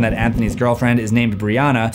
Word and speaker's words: Brianna: Anthony's girlfriend is named Breonna, spelled differently but pronounced the same as Breonna Taylor.